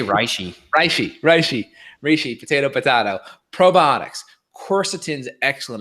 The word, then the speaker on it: reishi: Or if we're Evan, where it's, how do you say it? I say reishi.